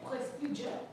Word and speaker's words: prestige: Mister, you say prestige. No, no, it's two two syllables. Prestige.